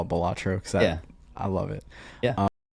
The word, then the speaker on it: Balatro: And a lot of, I know it's pronounced Balatro, but I'm always going to say Balatro. That's my jam. I thought it was called Balatro. I've always heard people call it Balatro. Apparently, it's Balatro.